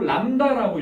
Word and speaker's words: 람다: 그리고 파장을 이제부터 이렇게 드립자 모양으로 쓰고 람다라고 읽어요. 람다라고 읽습니다. 우리 이제 각도 같은 경우에 이렇게 번데기 모양으로 세타라고 읽잖아. 이런 것처럼 앞으로 파장은 다 람다라고만 읽어요.